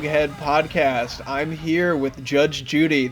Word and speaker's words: JudgeXJudy: podcast I'm here with Judge Judy the x is silent uh why don't you